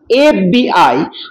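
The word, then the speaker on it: FBI: যেমন হি ইজ অ্যান এফ বি I agent F বি আই যখন আমরা উচ্চারণ করছি এফ তখন এ আগে আসছে আর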